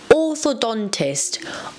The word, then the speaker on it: orthodontist: The stress is on the D, orthodontist.